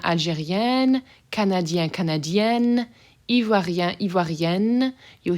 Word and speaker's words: Algérienne: So this first one is Algérien, open, sort of nasally end sound, and Algérienne, closed end sound where you're actually pronouncing them.